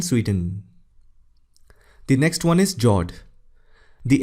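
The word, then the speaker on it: fjord: Norway Russia and Sweden the next one is Jord the f word is silent when you pronounce it these are a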